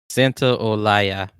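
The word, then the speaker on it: Santaolalla: Santa Olaya. Santa Olaya returned to compose and perform the game score like he did with the first game.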